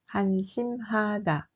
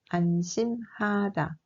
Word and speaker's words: 한심하다: We pronounce this word 한심하다. You have to pronounce the H correctly. Otherwise, it can give another word like 안심하다.